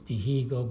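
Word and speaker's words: Dihigo: that my Deo it's Deigo but you pronounce in Cuban myo you don't pronounce the h so this is the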